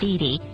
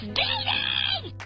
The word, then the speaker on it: Didi: something that really bothered her, like other characters mispronouncing her name... Oh, Sally! It's Didi. She sure is a great aunt, huh, Fifi? It's Didi!